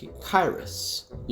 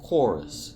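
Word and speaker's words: Choerus: Oh, also, for the longest time I pronounced this word, which there is in lots of scientific names for pigs, like Kyrus, like Dinokyrus. But since this pronunciation means hand, not pig, I looked for the right way to say it, and I chose chorus, not Kyrus, because that just sounds goofy.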